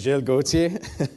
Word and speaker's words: Giles Gauthier: I'm actually from Canada so I'll pronounce my name it's Jill GOI I got some a little bit of French in me so um but just